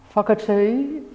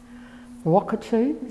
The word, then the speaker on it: Whakatū: we have today foggerty from a tainui dialect emphasizes the wh as an f sound wockatoo sits with the taranaki and that of course of the silent h it is not spoken as an f it's more like a hockatoo however there are other